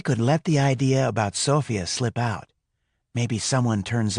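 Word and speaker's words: Sofia: It's Sophia. Accent on the first syllable.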